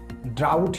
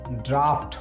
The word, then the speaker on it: draught: ज़्यादातर लोग इसे ड्राउट या ड्रॉट पढ़ते हैं, लेकिन इसका सही प्रोनाउंसिएशन ड्राफ्ट होता है। ड्राफ्ट, ड्राफ्ट एंड ड्राफ्ट।